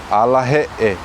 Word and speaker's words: alahe'e: Yeah, so we'll focus at the end of the word. Yeah, two E's, yeah, he'e, alahe'e.